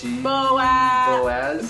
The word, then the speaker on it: Boaz: you remember his name starts the bee boa boaz boaz yes boaz rhymes with so as she means boaz and boaz